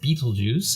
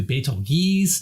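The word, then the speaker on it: Betelgeuse: the name Bal juice I call it Beal juice but some said it should be pronounced Beetle Juice and others were careful to note that it was in fact a translation or maybe a bad translation from the original Arabic however it may be the pronunciations range from Beetle Juice to Beal Gees to be Goose to Beetle Goose to Beetle G I just split the difference somewhere and call it Bal juice although I'm probably pronouncing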